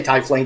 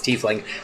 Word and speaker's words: tiefling: how um take a shot every time we mispronounce tifling or tiefling i say titleing even though it's tiefling i just like saying typhlink it flows off